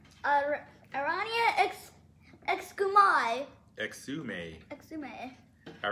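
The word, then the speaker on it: Arania Exumai: Pronunciation is Rain E A X U May. Aranya Exumai.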